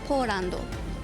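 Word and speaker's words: ポーランド: Polando.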